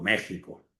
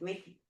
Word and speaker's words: México: España y México o México, vamos a decirlo bien, ¿verdad? Está escrito con la X, pero se pronuncia con la con la J, pero no en todas las palabras, ¿verdad?